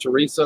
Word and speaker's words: Theresa: Theresa. It's pronounced Teresa.